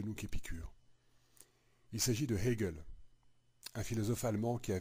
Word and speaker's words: Hegel: la philosophie de Hegel, je dis bien la philosophie de Hegel et pas la philosophie d'Hegel parce que c'est pas très joli, donc on va essayer de prononcer quand même le H plus ou moins.